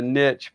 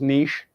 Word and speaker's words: niche: to you need a i call it a niche but i guess it's pronounced niche what's that you need